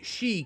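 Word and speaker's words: sídhe: my time in my she cave Sid he is pronounced she and it's the word Irish people use for mythical creatures including fairies Beetle says I remind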